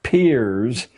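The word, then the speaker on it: Peirce: philosopher human history has produced he was it's pronounced peers but it's spelled as if it were Pierce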